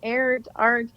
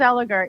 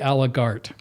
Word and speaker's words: Allegaert: no yeah usually it's air art no it's alart yeah it's a Flemish ending and uh but it's pronounced art well you the the